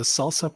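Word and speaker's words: SLSA: in reports the the salsa practices I think you pronounce the the abbreviation yes Salsa Salsa so when we looked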